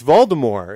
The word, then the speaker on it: Voldemort: Yeah, it's Voldemort. It's the T is silent. In the but, movies, like, they there's- say there's Voldemort.